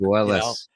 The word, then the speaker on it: Puelles: The co-main event, Clay Guida against Claudio Puelles or Pujols, however you'd like to pronounce it. Puelles.